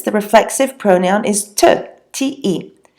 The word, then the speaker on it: te: When tu is the subject of the sentence, the reflexive pronoun is te, T-E. So te rhymes with je, so maybe that will help with pronunciation.